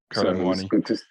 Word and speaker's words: Kolo Muani: His name is easier to pronounce once you say Kolo in front of it, and then it flows right into the Muani.